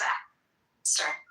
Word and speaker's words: ask: The word is ask, or John, or Kitover, or whatever you feel like going by. The word is ask. It's ASK. Oh. Pronunciation is not ax.